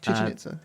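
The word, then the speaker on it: Chichén Itzá: this was at, do you know how to pronounce it? Chichen Itza? Yeah, Chichen Itza.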